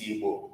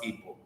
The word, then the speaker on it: Igbo: Our word, our name is Igbo and not Igbo. It might be difficult for you to pronounce, but with constant practice, you are able to pronounce it.